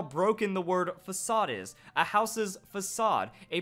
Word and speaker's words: Facade: the list we have number two fake aid oh yeah I went there I know it's facade but I feel like at some point we've all known that one person that refuses to drop it and just call it fake aid or you were there